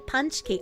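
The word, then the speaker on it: pączki: It's pronounced like Punchki.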